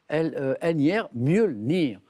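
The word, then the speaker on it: Mjölnir: Des éclairs, des pluies bienfaisantes et armé d'un marteau appelé Mjolnir. Alors, ça s'écrit M-J-O, tréma 2-L-I-N-R, Mjolnir.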